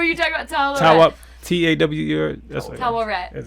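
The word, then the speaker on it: Taweret: Tawaret. That's how you pronounce it.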